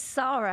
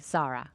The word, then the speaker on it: Sara: So my first question is, do you pronounce it Sara, or is that just the American way? Is it Sara? It's Sara, actually, okay. yeah. Okay, so even in America, we should say Sara.